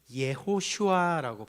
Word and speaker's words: 여호수아: 아, 우리는 이제 여호수아라고 이제 발음을 하지만요. 이게 히브리어로 발음 발음을 하면 어, 어떻게 되냐면 예호슈아라고 발음을 해요. 우리는 여호수아라고 하지만 히브리어로 하면 예슈아입니다.